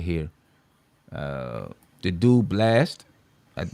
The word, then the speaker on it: Blxst: The dude Blast, that it's spelled BLXST, but it's pronounced Blast.